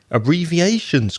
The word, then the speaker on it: abbreviation: Abbreviation's quite difficult. There are so many syllables. 1, 2, 3, 4, 5 syllables in abbreviation. The strong syllable is syllable number 4. So it's abbreviation.